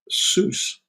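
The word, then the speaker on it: סוס: It has two consonants with one vowel in the middle. Okay, so one, two, and a shurik in the middle. So this would be pronounced sus, and it means, of course, horse.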